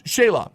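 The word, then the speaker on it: Shelagh: So, uh, Shayla, Shaya, Shay, Shayla, uh, yes, Shayla, I was right the first time. Uh, it's it's spelled a little different. S H E L A G H.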